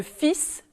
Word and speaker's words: fils: elle n'est pas prononcé et un fils le elle est prononcée attention aussi aux mots